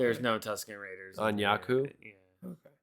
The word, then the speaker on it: Jakku: So I don't know how they pronounce Jakku or Jakku. Is it Jakku or Jakku? It's Jakku.